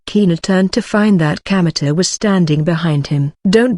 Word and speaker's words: Kamita: is kamita he said it's written with the characters for God Kami and field God's field but it isn't pronounced Kanda as you might expect it's pronounced kameter thus Kino first learned